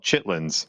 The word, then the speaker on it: chitterlings: I They spelled it chitterlings, but I've always heard it as called chitlins.